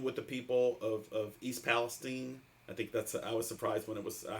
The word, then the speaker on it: Palestine: They pronounced it East Palestine, not Palestine. I was surprised, but I think actually Palestine is I think it could go either way.